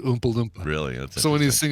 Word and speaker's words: Oompa Loompa: just funny because he kind of pronounces it Umpa Lumpa as opposed to Oompa LPA really so when he's